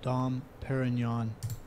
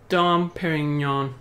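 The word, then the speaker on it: Dom Pérignon: sig til sådan noget how to pronounce d paring her Okay jeg tror den var lidt hacket den der d peron d Perignon og ikke campingvogn som nogen ville udtale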